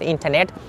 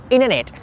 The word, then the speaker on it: internet: So that's called internet. Internet, because T is silent here.